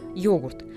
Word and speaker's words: йогурт: известная с незапамятных времён первое время произносилось как Егор затем на русский манер с ударением на первый слог йогурт это норма это Возврат к